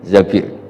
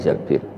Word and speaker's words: Zabir: Di hadis ini bukan bacanya bukan Zubair tapi Zabir, Abdurrahman bin Zabir.